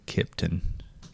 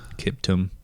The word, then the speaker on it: Kiptum: Kelvin Kipton. Is that how you say his name? Kiptum.